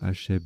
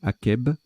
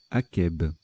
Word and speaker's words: akeb: On ne dit pas Hacheb, mais Akeb. Au Sahara, végétation qui pousse après une averse. Akeb.